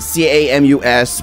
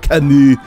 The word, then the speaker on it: Camus: I know it's spelled C-A-M-U-S, but apparently it's French, and that means it's spelled Camus. Camus.